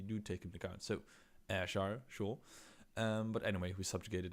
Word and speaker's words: Ayrshire: It is pronounced Ayrshire. You can pronounce the Y as an I, and that is how you pronounce it.